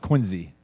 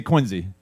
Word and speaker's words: Quincy: And yes, it's pronounced Quinzy, even though Q U I N C.